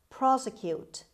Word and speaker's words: prosecute: the verb prosecute prosecute prosecute the stress is at the beginning means bring before a